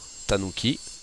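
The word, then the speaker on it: 狸: Sakana la grenouilleou le renard kits le BL tanuki le mouton hit la vache I et l'oiseau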